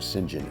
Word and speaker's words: St. John: And the Lambertville Music Circus was run by Singentin Terrell, which is spelled St. John like St. S. And that became his name, Singen, S I N J I N.